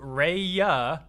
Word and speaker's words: Raya: Shout out to Raya Force Game. And I'm pronouncing the first word R-A-Y like that because, again, closed captions thought I said something else the last time. So shouts out to Raya Force Game, who makes